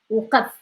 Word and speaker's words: وقف: As number 9 is the ق sound. وقف وقف وقف هنا وقف هنا. Okay. وقف هنا. Now try. عافاك هنا وقف هنا. If you find it hard to pronounce, use وقف and then like use like a slightly like a little vowel.